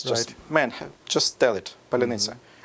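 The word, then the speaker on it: паляниця: Just, man, just tell it, palyanitsa. Palyanitsa, welcome, buddy.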